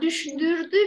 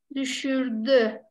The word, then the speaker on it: düşürdü: Bak düşdürdü biraz kötü bir telaffuz. Hani başta bir şey daha kullanıyoruz sesli harflerde. Düşür. Evet. Düşürdü.